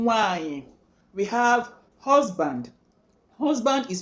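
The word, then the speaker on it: nwanyị: Sister is pronounced one name nwanyi, one name nwanyi.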